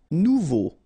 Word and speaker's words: nouveau: Nouveau. Remember, combination of E, A, and U together, it's O.